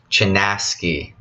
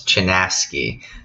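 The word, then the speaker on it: Chinaski: we have one right here wisdom traveler it's pronounced as chanaski okay so this is a really old book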